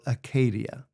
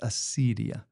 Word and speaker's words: acedia: what in the tradition is called Acadia or sometimes it's pronounced acidia and acedia is it